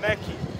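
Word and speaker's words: Méqui: Ivana is saying McDonald's here is McKee. Mackie. Mackie. Mackie. That's how Mackie. You pronounce M-A-C. M-A-C, Mackie.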